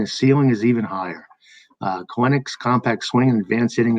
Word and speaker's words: Kelenic: And just to note, yeah, you do pronounce his name Kelenic, not Kelenic, like it looks like. The way it's spelled. It's just Kelenic.